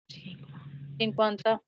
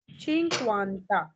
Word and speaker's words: cinquanta: Cinquanta, चिंक्वांता।